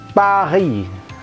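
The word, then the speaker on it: Paris: saya bilang tidak bertidak bergenre itu contohnya adalah Fahri Fahri esnya tidak dibunyikan Kalau berhenti sedih hanya berhenti di is aja kita membacanya kemudian ibukota kita lemahnya Janganlah dibacanya zakah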